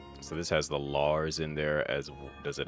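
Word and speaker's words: Larze: Lars. Lars Z. Although the I think the E is silent. H silent. So it's Lars.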